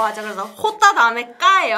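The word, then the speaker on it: jota: 자, 처음에 나오는 거 우리 영어의 J가 아니라 스페인어로는 어떻게 했죠? 호따. 그렇죠, 호따. 호따. 그래서 히읗 발음은 항상 여기 목젖에서 나와야 네.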